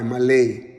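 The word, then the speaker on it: מלא: And we say that, but the pronunciation is like M-A-W-L-A-Y, Malay, from the Hebrew words, and the letters is Mem, Lamed, and Aleph.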